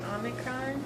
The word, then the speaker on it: Omicron: Omicron. Okay. And it says off, like log.